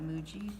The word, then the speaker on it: Muji: Muji pens.